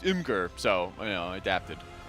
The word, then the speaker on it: Imgur: Well, I usually would say Imager, and people are like, no, it's Imgur.